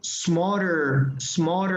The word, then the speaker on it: smarter: Pero la pronunciación de esto es como una culebrita, la S es, no veo una E. Y bueno, ya había comentado que nosotros los hispanohablantes tendemos a poner una E imaginaria y terminamos diciendo smarter, pero smarter, ¿ok?